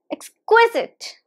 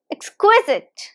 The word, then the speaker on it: exquisite: it's exquisite exquisite and the stress is on the second syllable here now repeat after me